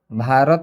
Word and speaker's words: भारत: जैसे यहाँ पर लिखा गया है भारत, भारत में देखिएगा पहले बी आया है उसके बाद